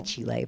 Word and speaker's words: Chile: You're supposed to say Chile, but I always feel like cheesy saying it that way. That is how you say it, though.